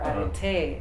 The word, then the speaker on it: arete: Of course, as a human, you are predisposed to develop, right, arete or arete as it's pronounced.